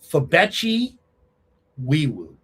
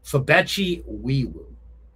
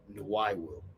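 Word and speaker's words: Febechi Nwaiwu: Uh, Fabeti Eweu. No. Oh, no. Fabeti Wiiwoo. Okay, there we go. That's the correct pronunciation. Fabeti Wiiwoo. I've been calling him Noiweeewoo.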